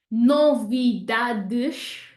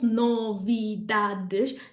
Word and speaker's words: novidades: Novidades won't be 4 syllables, novidades. That's how it would sound if it was a syllable timed language and we stressed every syllable, but we don't in Portuguese. We say novidades. We have 1 stress instead of 4 and it falls on the dad.